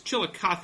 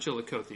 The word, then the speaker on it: Chillicothe: going to be in it's Chillicothe it's not Chillicothe right Chillicothe Ohio I know how